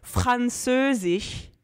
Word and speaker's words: Französisch: Mais si c'est à l'intérieur d'un mot, c'est un R comme en français. Ouais. Mettons, Französisch, qui veut dire français.